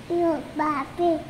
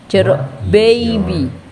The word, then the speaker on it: jeruk baby: Jeruk babi. Bukan jeruk babi. Jeruk baby.